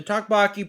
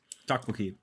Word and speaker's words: tteokbokki: go to Grocery Outlet get the tubaki pretzels sweet and spicy what did I say it wrong what is it tuboi tuboi okay well we're both Korean